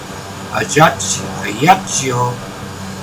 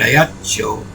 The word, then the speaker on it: Ajaccio: The J is like this in Spanish when it comes out as a Y. Ajaccio, Napoleon Bonaparte Airport.